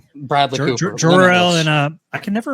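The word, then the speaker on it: Jor-El: It's Jorel.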